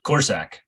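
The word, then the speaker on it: Korsak: And so, how do you pronounce the Rutgers punter last name, Richie? Corsack. Corsack, thank you.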